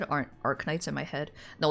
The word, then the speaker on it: Arknights: I'm too used to it, and I'm old, so the K in Arc is silent, but the K in Knights isn't.